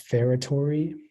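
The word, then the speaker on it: feretory: the information please uh the word is just pronounced ferratory it's a noun and it's Middle English it's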